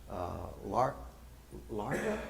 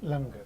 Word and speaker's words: langar: India that tombs gave larga? Is it when they serve food on Fridays? Is it larga? Langar. Langar. I always pronounce it wrong.